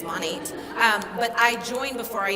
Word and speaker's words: Monat: I didn't even know how to say the company name properly. By the way, it's Monat, Modern Nature. I was saying Monet, like the painting, but it's Monat.